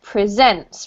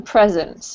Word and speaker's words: presents: hosted and this one because it's a verb here we have to pronounce it presents rather than presents okay presents present no presents so the noun is present as in gifts and the verb is to present okay all right who knows